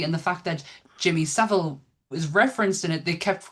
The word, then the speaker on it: Savile: whole episode on Jimmy Savile and they kept calling him Jimmy Savil and it was so annoying.